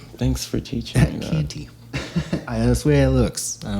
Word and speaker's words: Canty: Like candy, but with a T. Oh, thanks for teaching me that. Canty.